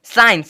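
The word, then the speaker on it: science: सी आईई एन सी साइंस साइंस मतलब होता है ना विज्ञान अब देखोगे यहां पे एस के बाद सी है तो इस सी का कोई भी साउंड जो है नहीं होना चाहिए नहीं होना चाहिए जो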